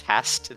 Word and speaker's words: HAST: here hey I choose Hast that is the correct pronunciation it doesn't have any not fast it's it's a level up from fast because H is further in the alphabet so a test I